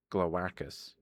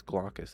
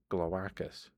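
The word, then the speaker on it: Glawackus: One editor coined the word glowacus, gla for Glastonbury, whack for wacky, and us as a proper Latin ending. It caught on like magic. So it's glowacus. Okay. I've been pronouncing it as glaucus this whole time.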